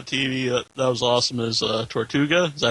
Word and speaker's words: Tortuga: favorite shows on TV, that was awesome, is Tortuga. Is that how you pronounce it? Tortuga, yeah.